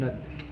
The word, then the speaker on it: Musnad: Musnad.